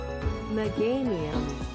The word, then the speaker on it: Meganium: meganium meganium meganium meganium whack like geranium yeah or or um